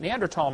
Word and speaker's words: Neanderthal: By the way, in case you don't know, the Neanderthal, the H is silent, Neanderthal man is named after